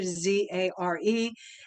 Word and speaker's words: Zare: And the spelling of Zare, remember it rhymes with care, Zare, at Gmail.